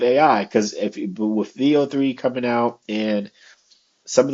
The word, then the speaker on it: Veo: things you can create with VO or Veo I'm not sure exactly the correct pronunciation but no I think everybody was saying VO VO listen VO3 it